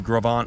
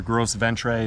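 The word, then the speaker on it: Gros Ventre: rejoins the continental divide trail west into the gravant wilderness uh or gross ventrae if you want to grossly mispronounce it i think i was corrected by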